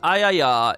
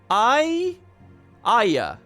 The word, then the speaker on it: Aya: is that i i how do you say that i i that's it i i it's not three it's aya or i i that's leading to the